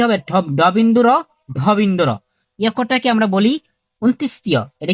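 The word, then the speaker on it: অন্তঃস্থ: মানে এটা কি হবে বিন্দুর বিন্দরটাকে আমরা বলি অন্তস্থীয় এটা কি অন্তস্থীয় হবে না এটা হবে কি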